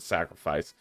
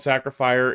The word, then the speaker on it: Sacrifier: a game called sacrifier I I said the name wrong to the devs and I feel like such an idiot I called it sacrifice um but it's called sacrifier it's got like that